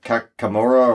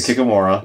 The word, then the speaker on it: kikimora: kills that nobody wants the kakamora or the kaka uh kikamore how it's spelled but you know me in words the kikimora yeah uh so that that